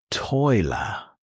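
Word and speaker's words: tôi là: In Vietnamese, you say, toi la pronounced toi la. This means I am. For example, toi la Alex.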